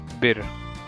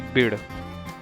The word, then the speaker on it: बिड़: हालांकि आप लोग देखते होंगे ये नाम बिर के नाम से मशहूर है, लेकिन एक्चुअल में लोकल नेम बिड़ है। Because it's not possible to write bid in English, that's why people are pronouncing it bir. It's actually bid.